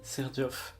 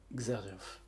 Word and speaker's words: Xerjoff: And yes, it's pronounced Ser-djoff, not Xerjoff.